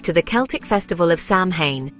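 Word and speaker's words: Samhain: Fact number one, Halloween's roots go back over 2,000 years to the Celtic festival of Sam Hayne, pronounced Sain.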